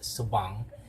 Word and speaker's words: Subang: In Iloilo, when you say Subang, it's actually not pronounced as Subang, it's pronounced as Subang, with a stress on the second syllable.